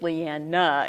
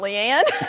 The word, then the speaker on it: Leanna: And then when they got to where they could pronounce Leanna, they made sure everybody else remembered it was Leanna and not Leanne.